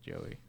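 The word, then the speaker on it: Jowy: name is j-o-u-i it's they pronounce it joey okay and they put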